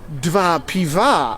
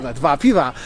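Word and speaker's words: dwa piwa: go and I go DV Piva ha DV Piva which is two pivo because two beers because it change it the guy was so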